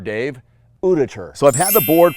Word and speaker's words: Uditer: and today it's the order electric skateboard it's pronounced uditure Dave uditure so I've had the board for a full